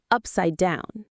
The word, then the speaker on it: upside down: The stress is on the down, upside down.